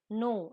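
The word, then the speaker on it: know: किसी से पूछ लेना नो इसमें के साइलेंट होता है ठीक है तो जानना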